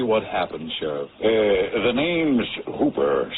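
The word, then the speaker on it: Houper: The name's Hooper, spelled H-O-U-P-E-R, but pronounced to rhyme with Cooper.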